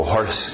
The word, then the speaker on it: hoarse: Curiosamente usa horse, só uma dica extra, outra escrita, mas a mesma pronúncia, horse para rouco.